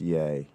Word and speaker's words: Ye: Okay, well, I'll say to ye, pronounced yay by some, genius move.